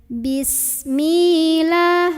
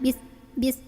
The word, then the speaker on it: bismillah: Sin ini kita alirin, jangan ditahan suaranya, jangan bis tapi bismillah, lahnya lah bukan loh ya.